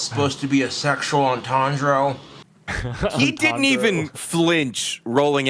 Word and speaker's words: entendre: entendre is how you say it.